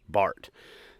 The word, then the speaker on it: Bart: it as its name Bart the big adventure Ram truck if you watch some of my videos you know Christy doesn't like the name because it rhymes with fart but we're gonna roll